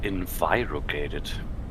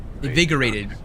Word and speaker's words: invigorated: a real person interesting I thought it's envirocated oh yeah invigorated basically I feel energetic I feel yeah yeah the the meaning of that world that word is um known to be but I thought the pronunciation is in Phi because of the I envirocated ah yes don't worry